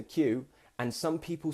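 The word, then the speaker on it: queue: So Q. It sounds like the letter Q, and some people say it in all kinds of different ways.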